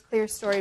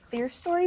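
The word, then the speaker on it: clerestory: story Windows CLE CLE I know some people say it that way it's c l e r e s t o r y how do you say it I say it claster but maybe I'm wrong I've heard it said both ways I always just say clear story and I guess I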